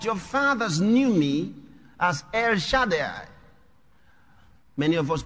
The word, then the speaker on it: El Shaddai: is jehovah but your fathers knew me as air shaddai many of us pronounce it ere shaddai pronunciation sanjay er that's more difficult to pronounce